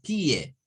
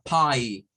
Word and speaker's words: pie: en las palabras que terminan con el diptongo IE. Esto no suena a pie, vean, sino que suena a pie.